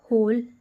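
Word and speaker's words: whole: से एक था ओके द होल इसमें डब्लू क्या है साइलेंट है तो क्या हो जाएगा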